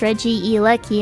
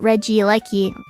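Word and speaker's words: Regieleki: Wait, am I All I said was that Reggie Lucky is interesting and that it's actually pronounced Reggie Eki and not Reggie Lucky.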